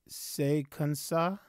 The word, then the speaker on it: Se Kon Sa: I believe it's pronounced Sekansa.